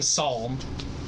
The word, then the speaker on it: psalm: How do you say calm? Krista says calm. She says the I L. say palm. Tom. Krista says the Tom. L. Pom. Yeah. But I say the L in psalm.